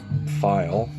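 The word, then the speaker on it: Pfeil: mickey stanley bobby and i pronounce this p-f-e-e-l bobby file there's bob file tom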